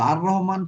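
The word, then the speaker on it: الرحمن: তো এখানে হুম যেহেতু রটা হচ্ছে কি কি হরফে কমারি মনে হয়, সেই জন্য লাম উচ্চারণ হবে না।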